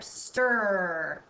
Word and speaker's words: stir: This is a tricky word because we don't hear this I. The R takes control of this word, so it's kind of a silent I there. Stir.